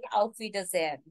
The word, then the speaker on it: Auf Wiedersehen: Auf Wiedersehen. I repeat. Auf Wiedersehen. You have to break this word in three sections for better pronunciation. Although it's one word, so final pronunciation will be Auf Wiedersehen.